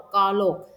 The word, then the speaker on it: ตลก: ตอบ อ่ะ ตาก และ อีก คำนึง อ่าน ว่า หอ รอ อก ตลก ซึ่ง หอ นั้น หอ นั้น นำ ลอ ลิง เห็น ไหม คะ ฉะนั้น คำ ว่า ตลก จึง เป็น อักษร นำ นะ คะ อะ ทิชชู ให้